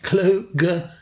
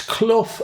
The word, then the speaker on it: Clough: Kluger to room 3. It's Clough as in Brian, although